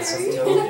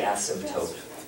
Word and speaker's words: asymptote: asymptote, yeah. Oh, no. It's a little bit like raspberry, yeah. You could say asymptote, but it's normally asymptote.